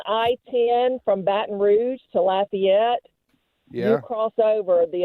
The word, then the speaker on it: Lafayette: Oh, Lafayette's how they say it Lafayette.